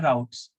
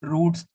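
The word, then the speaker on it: routes: Slash about लिखा है, इनको हम राउट्स बोलते हैं, या रूट्स, रूट्स तुम बोलते होगे, बट हम प्रोग्रामिंग में इसको राउट्स बोलते हैं। ठीक है, उसकी प्रोनाउंसिएशन ऐसे होती है।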